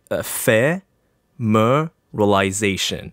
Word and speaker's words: ephemeralization: i would say like you have to like divide the word up so you would say fair mer realization yeah yeah that's you